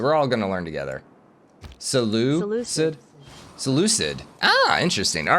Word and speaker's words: Seleucid: You know, I've never actually known how to pronounce this one, so we're all gonna learn together. Seleucid?